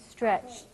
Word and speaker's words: stretched: one tip tipto stretched what's the difference there tiptoed stretched this is a d and this is a t a very interesting aspect